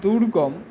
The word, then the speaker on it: দুর্গম: তার মানে যে দুর্গম, দুর্গম এটাকে উচ্চারণ করে দেখো যে কীরকমভাবে উচ্চারিত হচ্ছে, দুর্গম, অর্থাৎ গয়ের আগে রয়ের উচ্চারণ হচ্ছে দুর্গম।